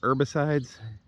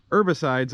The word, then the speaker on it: herbicides: up nicely and the herbicides herbicides silent h herbicides are they're doing their